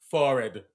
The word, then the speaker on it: forehead: and she said that the correct way to pronounce forehead is forhead you have a large